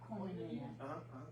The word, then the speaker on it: koinonia: Koinonia. Koinonia. Yeah. If you want to be more Greek about it, it's like koinonia. But I mean, in the South, that's as close as we get.